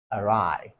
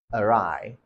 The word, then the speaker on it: awry: goes south it means the plan has gone arai arai now how do you say this next word some people pronounce it as Oasis now it's not pronounced